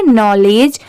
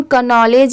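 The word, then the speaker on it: knowledge: इसे हम पढ़ेंगे नॉलेज। अब यहां पर देखिए स्टार्टिंग में के दिया हुआ है तो इसे हम कनॉलेज या केनॉलेज भी पढ़ सकते हैं। बट नहीं यहां पर के लेटर साइलेंट है।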